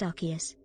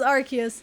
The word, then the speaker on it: Arceus: It's pronounced Arceus. Okay, if the TTS says Arceus, it is Arceus.